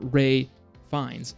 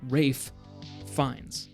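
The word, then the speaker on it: Ralph Fiennes: wrong this whole time no not like Ralph not a but it's not it's not Ray it's not Ray fines it's Rafe fines there's like two Fs in there anyway I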